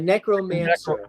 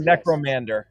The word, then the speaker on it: necromancer: didn't correct me uh necromancer i'm sorry i've been saying necromander i've been saying it